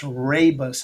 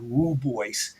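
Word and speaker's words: Rooibos: Now uh it's again pronounced rabbus also although it sounds like it looks like it sounds rubboy um but this rabus tea it contains powerful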